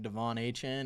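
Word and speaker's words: De'Von Achane: It's pronounced like Devon Achan except does not look like that's how it's pronounced.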